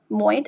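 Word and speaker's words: Moët: I think it was I forgot the name of the champagne brand, but basically he partnered up with Moit, I think that's pronounced, LV's company that does a lot of liquor worldwide.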